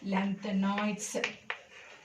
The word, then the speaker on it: lanthanoids: Okay, the 4F series, it is called as lanthanoids. This one, actinoids. So pronounce properly, lanthanoids, OIDS, actinoids.